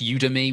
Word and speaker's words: Udemy: There's videos called Teaching Your Child to Read, which are on, I think it's pronounced Udemy, which is a professional learning platform.